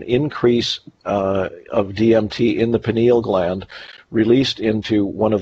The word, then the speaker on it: pineal: It exists in the pineal gland. I believe it's pronounced pineal, P-I-N-E-A-L.